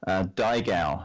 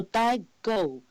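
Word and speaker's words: daigou: So the other thing you've mentioned is a term called Daigao. Have I pronounced that right?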